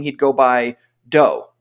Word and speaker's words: Do: name he'd go by Doe spelled d-o but pronounced doe and there wasn't ever